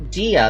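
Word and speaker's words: Jia: Gia, that's how I say it. I always pronounce it jaw because it's Chinese.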